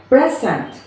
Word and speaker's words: present: first syllable of stress so we have here present so we stress here from the pre present present second is